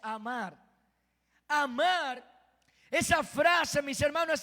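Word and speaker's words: אָמַר: Dios, esa palabra viene de la raíz hebrea amar. Me gustó porque es una palabra en español, amar. ¿Sabe que dijo Dios? En hebreo se pronuncia amar.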